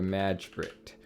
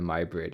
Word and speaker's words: Majbritt: name we'll call it the magistrate or the my braid if you want to pronounce it correctly press Enter the keyboard